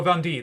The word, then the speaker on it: Vendée: can't i can't do french um bundy oh vandy that's it fun d um the revolt in